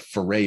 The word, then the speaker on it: Ferre: You can look him up in the Mañana No Mas website, but Foray is spelled Ferre.